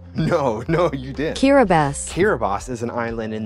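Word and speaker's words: Kiribati: from what yeah I would like you to pronounce this word I'll give you a useful hint it's a country did you say kiras no no you didn't kabas kabas is an island in the Pacific so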